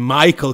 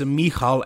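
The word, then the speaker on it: Michal: I know you guys you Americans call him Michael crio but I can't make myself pronounce his name wrong it's mikal and it's crio but whatever 10 days after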